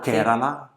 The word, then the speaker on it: Kerala: India is also very generic, as it's huge; but Kerala ... Ah this yes! Or Kérala I think this is the pronunciation.